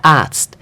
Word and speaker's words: Arzt: Der Arzt. So picture this word as if you would write it instead of a Z and a T, you would write A-R-T-S-T. That's how we would pronounce this one.